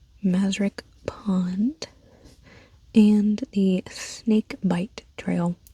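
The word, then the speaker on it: Bight: Pond and the Snake Bite Trail. Bite spelled B I G H T. I don't know why it's spelled like that.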